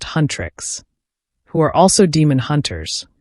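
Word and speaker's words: Huntr/x: The story follows a K-pop girl group called Hunter/X, pronounced Huntress, who are also demon hunters, responsible for protecting humanity from supernatural threats with their combat skills and empowering pop.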